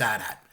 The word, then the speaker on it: AT-AT: And he responded to me and he said, no, it's AT-AT. But he said that the reason why it gets confused is, the chicken walkers, like the two-legged ones? The ATST? Yeah, that's pronounced ATST. So right. Then people get thrown in, but the other one is AT-AT, 100%.